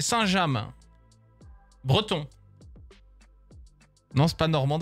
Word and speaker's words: Saint-James: Et ça se prononce pas Saint-James, alright? C'est Saint-James.